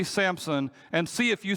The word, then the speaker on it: Samson: his name correctly I I say Samson with a p in the middle of it and there is no p